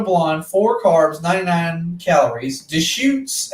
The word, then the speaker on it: Deschutes: four carbs 99 calories de shoots out of oregon the the beer is called da shoots yeah so it's deschutes oh you have to see it it's a it's a visual punch oh yeah it's spelled differently sorry yeah the allergies